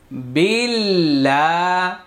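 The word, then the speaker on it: بالله: মনে আছে যে যত পেশ তত গোল পেশচার উচ্চারণ ঠোট গোল হবে আউ বিল লাম খাড়া জবর লা বিল্লা বিল্লা বিল্লাহ আল্লাহ শব্দের পূর্বে এখানে জের আস আল্লাহ শব্দের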